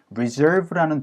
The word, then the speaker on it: reserve: 얘는 resound로 해서 reserve 해가지고 SE에다가 강세를 좀 찍어 주셔야 되고요.